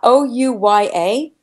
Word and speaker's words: Ouya: And I'm not sure if I'm pronouncing this right. Ouya, O-U-Y-A.